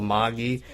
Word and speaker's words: magi: here real quick on the pronunciation of magica bula Maggie Maggie is how they said it in the original language and in Japanese so